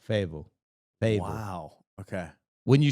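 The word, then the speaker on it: Fayetteville: y d v l Fable fa wow okay wouldn't you say that saquan like fade F yeah yeah they don't really pronounce the T they're leaving out some some letters okay I think that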